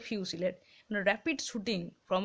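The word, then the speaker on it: fusillade: ফুসিলেড উচ্চারণ নয়, ওটা ফিউসিলেড, মানে rapid shooting from a number of rifles or other fire arms বলতে পারো অলসো সাইমালটেনাসলি, ঠিক আছে।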